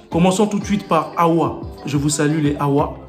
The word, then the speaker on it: Awa: Et donc le prénom Awa en lingala, on prononcerait Awa. Ça s'écrit pareil, A-W-A, Awa.